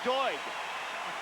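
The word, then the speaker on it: Doig: You say it like D O Y G, but it's Doy.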